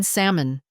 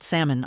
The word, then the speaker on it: salmon: "You mean salmon, not salmon, Iris. It's pronounced croissant, not crescent."